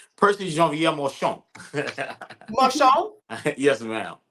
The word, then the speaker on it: Marchand: to say Percy Jean-Pierre Marchand. Marchand. Yes, ma'am. Sounds Okay. We usually say Marchand, though. Oh, okay, But yeah, Marchand. that's the proper pronunciation.